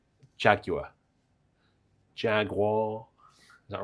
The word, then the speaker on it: Jaguar: Jaguar. Is that right? It's just Jaguar. Jaguar, like garage.